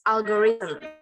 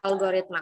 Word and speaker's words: algorithm: It pronounced algorithm, not algoritma. Algoritma is Indonesia.